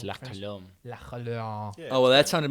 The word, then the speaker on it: La Colombe: You don't pronounce the E? It's Nope. French, man. It's French. You It's know, La French. Colombe. La Colombe.